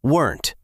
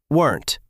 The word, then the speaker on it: weren't: We actually swallow the sound a bit. It sounds more like weren't. one syllable weren't weren't We weren't ready.